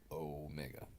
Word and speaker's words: Omega: Omega is au mega so it's the long the long o sound Omega and that's why I